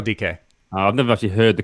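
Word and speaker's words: Dike: phil and watching daryl dk do his thing for the united states is that how you say his name dk not dyke yeah it's deryl decay i've never actually heard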